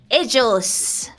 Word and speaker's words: ellos: So yeah, for él, it's actually ellos. Ellos. Yes. The double L sounds jo. Well, sometimes in Spain they pronounce it like you, like ellos.